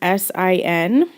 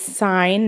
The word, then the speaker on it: sine: sign uh it's spelled s-i-n-e we use the abbreviation s-i-n okay that's sine not sin and then cosine is